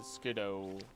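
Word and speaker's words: Skiddo: Alright, the Pancham should be over by the Skidoo, technically, is how you pronounce it.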